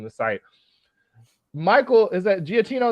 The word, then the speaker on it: Giacchino: Michael, is that Giacchino is how you say his last name? Yeah, Giacchino.